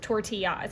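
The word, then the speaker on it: Tortiyahs: And it's spelled t o r t i y a hs. Tortillas.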